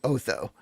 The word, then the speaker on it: Otho: I was like, okay, it's Otho. I should start saying Otho.